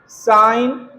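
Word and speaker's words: sign: साइन, रिजाइन, डिजाइन, अलाइन है ना? अलाइन डिजाइन रिजाइन साइन है ना तो आप जी के बाद जब कभी भी एन देखिएगा तो जी का उच्चारण नहीं करेंगे फिर आपके सामने प्रोनंसिएशन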